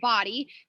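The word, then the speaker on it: BODi: That's what it's pronounced, Body, but it's BOD Interactive.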